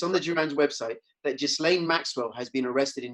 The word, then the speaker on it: Ghislaine: She's, by the way, correct pronunciation, I believe, is Ghislaine Maxwell. Somebody who knows her or knew her told me this.